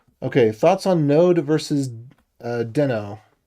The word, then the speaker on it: Deno: Okay, thoughts on Node versus Deno. That's the way they pronounce it, which is wrong. The way I pronounce it is Dino, which is correct, because it's obviously correct.